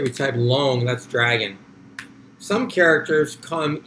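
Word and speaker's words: 龙: So again, it's the same Pinyin though, same pronunciation, long, L-O-N-G, long. It's second tone, although you're getting every L-O-N-G that exists.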